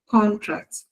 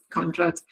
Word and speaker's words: contract: So you see that in the first word, the stress is on the first syllable. Contract. But then that is a noun. But then when it is used as a verb, the stress is on the second syllable.